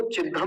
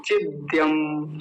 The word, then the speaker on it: चिद्यम: और चिद्यम शब्द जो है इसको तो बड़े ध्यान से देखेंगे, कुछ लोग इसको चिद्धम बोलते हैं, चिद्धम, चिद्धम नहीं, चिद्यम। जैसे विद्या, विद्या को कुछ लोग विद्या बोलते हैं, विद्या।